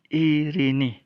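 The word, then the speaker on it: εἰρήνη: Jadi kata Irini, ya, Irene, itu transliterasinya diucapkan Irini. Irini. Ingat saja kalau ada E dengan garis di atasnya, itu diucapkan I.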